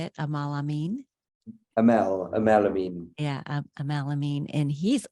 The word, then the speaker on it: Ameen: Amel Ameen.